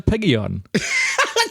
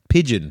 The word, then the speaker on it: pigeon: Since I was as a piggy on. You said it like it's a fucking Pokemon. It's a seagull and a piggy on. This is how one it's seagull, pronounced. one piggy on. Pigeon.